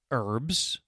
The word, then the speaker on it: herbs: Some words that start with the letter H have a silent H, so you do not pronounce it. There is honestly and our. What else? Herbs, H-E-R-B, in American pronunciation. Honor, H-O-N-O-R. Heir, H-E-I-R. I will make a silly